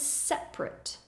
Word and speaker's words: separate: is a tricky one if you're using the word like a verb to separate the pronunciation is different you'll hear that there are three syllables separate separate for example I'm going to separate these two things however if we're using it like an adjective we would say separate for example this class